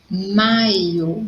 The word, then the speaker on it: maio: Então, olha a diferença. Maio, maiô. Então, em maio, a sílaba forte é mai.